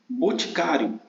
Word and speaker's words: boticário: Boticário, qual é a sílaba tônica? É o cário, né? Então, o acento aqui seria no A, porque seria uma paroxítona terminada em ditongo. Então, o acento seria no A, boticário, né?